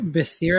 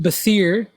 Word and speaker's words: Behir: Behir, I believe is how you say it, has often been defined variously as serpent, lightning, and thunderbolt.